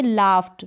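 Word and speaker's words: laughed: यहाँ पर है ये लाफ्ट, क्या है, लाफ्ट, तो ट का साउंड आ रहा है।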